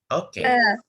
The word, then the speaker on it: eau: Air itu O. Ya, bukan eau tapi O.